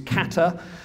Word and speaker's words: kata: in terms of pronunciation there are lots of different pronunciations people try to use katha actually it does come out of Carter Carter is closer to it's a supposedly true pronunciation but there are various